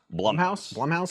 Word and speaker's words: Blumhouse: Blumhouse, is how you pronounce it.